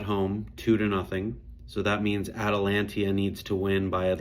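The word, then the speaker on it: Atalanta: Atalantia, almost spelled like Atlanta. Lots of people call them that.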